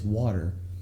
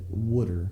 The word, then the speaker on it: water: It's water, but I guess from this part of the country, certain people pronounce it wooder, like Wudder.